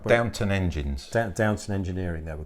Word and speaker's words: Downton: Okay, so back in the 60s, there was a tuning company in Wiltshire called Downton. Okay, not like as in that TV programme. Yeah, Downton it's spelled Abbey.